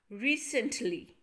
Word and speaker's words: recently: In recently, we have three parts. Re, sent, li. So in re, we have e sound. One syllable. Sen, again e sound. And li. Students, remember, y is not a vowel, but it gives us the sound of vowel, that is e. Y is pronounced as e when it comes at the end of the word.